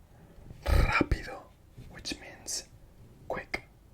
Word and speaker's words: rápido: So if the R is at the start of the word, it's rápido, which means quick. Rápido.